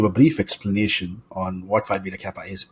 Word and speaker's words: Phi Beta Kappa: the point that you were a member of Phi Beta Kappa, Hmm. if I am pronouncing that correctly.